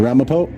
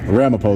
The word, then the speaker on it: Ramapo: This is the town of Ramo. Ramapo. That's a town. Yeah. Ramapo though is how you say it.